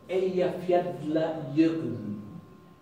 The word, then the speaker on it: Eyjafjallajökull: Eyjafjallajökull. Eyjafjallajökull. Fjalla, de las montañas. Jökull, Jökull, glaciar. Ella es las islas.